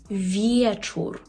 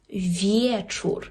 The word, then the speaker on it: wieczór: є є ось тут коли у вас вже є і е отоді ми маємо повне право читати як є наприклад у слові вечор вечор так До речі добрий